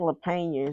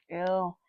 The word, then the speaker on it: Lapena: I think Lapena is right though. Lapena.